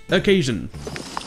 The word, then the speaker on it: occasion: quai jeune et donc une occasion se dit accueil jeunes et des fois une voyelle non accentués n'aura